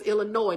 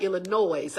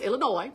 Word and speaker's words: Illinois: Y'all, it's Illinois, not Illinois. I had to practice that. I'm like, the S is silent.